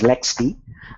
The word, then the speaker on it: LXD: and canonical has their own container called lxd pronounced as lexd and microsoft is innovating with hyper-v containers and